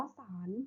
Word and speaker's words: ศาล: อาสา สาระ เรือง ว่า สาร หมาย ถึง ข้อ ความ ด้วย คำ เรื่อง ราว หนังสือ นะ คะ ตอบ ๆ ศาลา สระ อา ลอ ลิง อ่าน ว่า สาร ไม้ เชิญ คณะ บุคคล